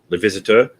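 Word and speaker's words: Les Visiteurs: You should watch the Renault movie that I mispronounced earlier. Edward corrected me. You should watch it. It's a great movie. Edward, Le Visiteur.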